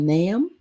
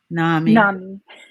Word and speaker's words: NAMI: In my research, and I researched an organization called NAM, the National Alliance of Mental Illness. NAMI, yes. Okay, NAMI. yeah. And how do you pronounce it? NAMI.